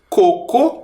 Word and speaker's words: coco: que também recebeu acento e coco o coco Ele não recebe acento porque a sílaba tônica a sílaba mais forte é a penúltima é o primeiro co co co interessante